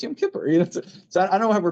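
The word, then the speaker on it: Yom Kippur: they have Yam Kipur which they never pronounce right. It's always Yamipur. It's not Yamore. It's Yam Kipper.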